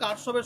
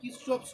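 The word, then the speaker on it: Kirchhoff: বাংলায় পড়েছিল মনে হয় কারশফের সূত্র, আর ইংরেজিতে উচ্চারণ করলে হয় কিরচফস ল।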